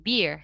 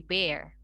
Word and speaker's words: bear: Nah, tapi tadi untuk yang bear ya, untuk yang beruang sama yang bear tanpa alas itu dibacanya tetap bear ya, tidak jadi beer tapi bear.